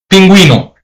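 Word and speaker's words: pingüino: So because it has the um above the letter u this is pronounced as puo penuino u pronounced because of the um okay and I think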